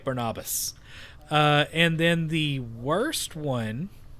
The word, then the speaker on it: Barnabas: I like Barnabas.